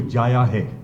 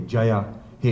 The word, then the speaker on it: Jaya Hai: got the exact pronunciation, because the UK tongue goes to Jaya Hai. That's what they normally do. So I had to tell them that it's more like a J-U-Y-A, Jaya Hai, and they got it pretty much immediately.